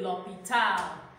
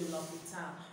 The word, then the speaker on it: l'hôpital: Example, j'habite à côté de l'hôpital. You see, l'hôpital here is l apostrophe. That H is silent. J'habite à côté de l'hôpital.